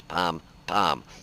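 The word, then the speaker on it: pom-pom: I always thought it was Pon, P-O-N, P-O-M, but it's Pom Pom, which is a 40 millimeter, and I believe this gets actually the same exact gun.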